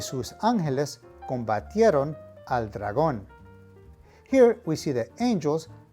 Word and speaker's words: dragón: Finally, you can see that dragón is spelled exactly the same as it is in English. However, the emphasis of pronunciation is on the last syllable, dragón.